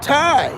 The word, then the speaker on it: Thai: Oh, Thai is how you pronounce it, Thai.